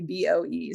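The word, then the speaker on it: Boe: and tell people that Bo is spelled b OE because I can just see people typing in going why can't I find the words I know I always say it's like toe or Joe or so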